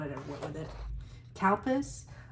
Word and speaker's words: Calpis: Calpis. Calpis, it sounds like I'm saying cow piss. I'm not. I think it's pronounced cow piss.